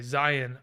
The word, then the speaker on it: Zion: that it is um iron like a lion in zion okay interesting thank you steven um okay zion iron okay okay got